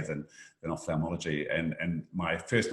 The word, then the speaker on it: ophthalmology: pronounce so for for the listeners can you pronounce the field of surgery that you're involved with yes ophthalmology so it's oph th off theomology so it's